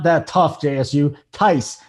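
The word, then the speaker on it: Theis: he calls him daniel feast every day and it's daniel tyse okay it's not that tough jsu tyce like mike tyson the old coach of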